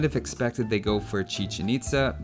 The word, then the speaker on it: Chichén Itzá: For the Mayan wonder, you might have expected they go for Chichen Itza, or Chichen Itza if you prefer the Spanish pronunciation, but that's definitely not the case just looking at the stairs.